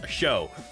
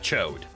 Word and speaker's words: Chode: We'd like to remind everyone that Chode is a French joke pronounced show. Also true, also true. You even typed shod, and I just instinctively pronounced that Chode.